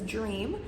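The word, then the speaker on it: Jream: It's Dream, but it's spelled like J-R-E-A-M.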